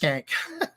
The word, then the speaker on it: Schenk: And they named a school after him, and his name is SCHENK, and it's pronounced Skank.